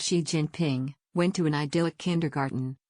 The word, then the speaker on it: Xi Jinping: Little Xi Jinping, pronounced Xi Jinping, went to an idyllic kindergarten, where they waved red flags and sang songs to Chairman Mao.